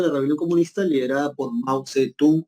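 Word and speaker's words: 毛泽东: No es Mao Zedong, ¿no? Sino es Mao Zedong.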